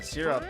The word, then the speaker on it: syrup: I I'd typically say syrup, but uh syrup is more on line with how that should be pronounced. I would agree. I think it's a more of a southern draw thing to go syrup. Sur you say almost sir and up syrup.